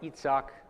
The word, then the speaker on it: Isaac: So Isaac has got S and C, but it's a K-sounding C, not a soft C. So it's Sak. And if you do an I sound, it's Itzak. In Hebrew, the Isaac would be more like an Itzak.